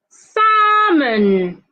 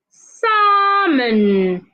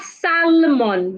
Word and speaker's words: salmon: word is definitely definitely salmon salmon not Salon the L is not should not be heard it is silent say Salon Castle not